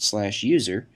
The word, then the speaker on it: usr: by the system administrator, /usr, often pronounced /user, which contains software that